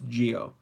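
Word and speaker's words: Zi-O: It'll be pronounced Geo, but we don't know if it's intended to be spelled as ZO or what it even means.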